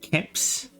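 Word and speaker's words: keps: in Swedish it's pronounced caps so the vowel has shifted so but the word has been respelled to match the Swedish pronunciation uh yeah to mat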